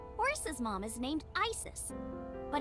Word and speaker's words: Isis: mythology too okay but i said horace's mom is named isis but in ancient egyptian it's pronounced closer to isa or asa hmm how do i